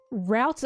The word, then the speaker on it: route: Americans say route as root, and now when I say root, they're like, what? Which one is it? Root of a tree or root of like a road?